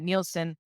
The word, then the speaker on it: Nielsen: Am I pronouncing that properly? Yes, Nielsen.